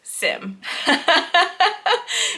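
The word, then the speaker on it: Xiem: the conference with Sim tools the head of sim tools was there and confirmed that it is pronounced Sim if you love this brand of tools and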